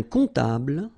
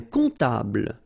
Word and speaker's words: comptable: Un comptable, so O-M, remember it goes like on, all right? And then, strangely, this P is not pronounced.